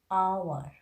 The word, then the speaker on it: hour: Now let me tell you first which is the silent H, like honor, honest, hour, hair, H-E-I-R, hair. This kind of words, H is silent.